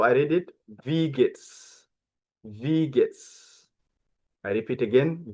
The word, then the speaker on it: wie geht's: Use the question, wie geht's? Wie geht's? Okay, okay. Pay attention how I read it. Wie geht's? Wie geht's? I repeat again, wie geht's? So in Dutch, in German, W is V.